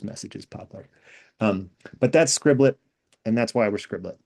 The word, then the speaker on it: Scriblit: It's just 2 syllables and it's repeating that short I sound, which I think makes it fun to say.